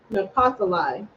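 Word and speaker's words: נפתלי: that one yeah na in Hebrew you say naali napali and his name means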